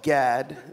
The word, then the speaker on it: Gad: name the last name so it's uh just pronounced Gad the uh the other letters that don't exist are like you're gagging like Gad no Gad Gad with a d d Gad what is